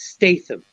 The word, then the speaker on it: Statham: streaming because it's Jason Statham and a lot of other good actors and actresses and you pronounce the T it's Statham and I mean as